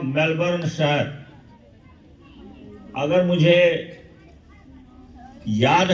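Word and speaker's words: Melbourne: हिंदी में मेलबोर्न वगैरह कुछ पढ़ते होंगे, मेलबोर्न वगैरह कुछ लिखते होंगे, लेकिन ये है मेलबर्न।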